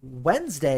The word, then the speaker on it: Wednesday: fun of for is wednesday because wednesday has too many silent letters in it and i swear to